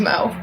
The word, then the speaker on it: Mo: look like an Amanda it rhymes with go wo my name's Mo oh hey look there's